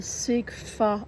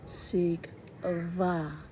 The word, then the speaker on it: Sigfa: The sigfa I've been saying fa she says is pronounced sig va I was close